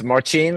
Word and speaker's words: Marcin: Is it Marcin? Is that the right way to say it? It's Marcin, but I'm used to whatever pronunciation you have.